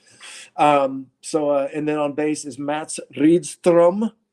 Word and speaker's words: Mats Rydström: And then on bass is Mats Rydström, that I'm still pronouncing his name. The rolled R is so hard for us to do.